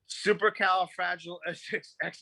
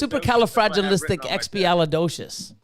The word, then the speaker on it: supercalifragilisticexpialidocious: supercalifrag espiolodocious what no supercal fragile x6x no it's supercalifragilisticexpialidocious yeah that's special you gotta learn how to say it supercalifragilisticexpialidocious come on